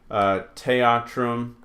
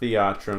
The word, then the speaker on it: theatrum: Teatrum, not theatrum. They had kind of a hard TH, teatrum.